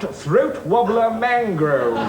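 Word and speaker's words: Raymond Luxury-Yacht: No, it's spelt Raymond Luxury Yacht, but it's pronounced Throat Wobbler Mangrove.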